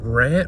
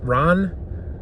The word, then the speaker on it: Ran: But ran Ran. I keep I want to pronounce it ran because it's an English word aesthetically, but it's a Japanese word.